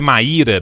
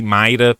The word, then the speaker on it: Maíra: A pronúncia é Maíra, me perdoa, Maíra. Eu falei Mayra porque eu tenho uma amiga que chama Mayra e o dela é sem acento. E aí, normalmente, Maíra tinha o acento.